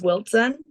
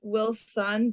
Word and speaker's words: Wiltzen: to just Wiltzen. Mhm, So yeah, everybody says Wilson, but just add a little TZ in there.